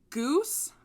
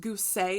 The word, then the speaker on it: Guse: girls names is michelle goose but it's also pronounced goosey in the dark so i just went with goose it's pronounced both well like by different people yeah by different people